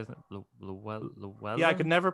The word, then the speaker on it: Llewellyn: like with Q is very close to Desmond Llewellyn. That's how you say it. Llewellyn? Yeah, I could never pronounce his surname.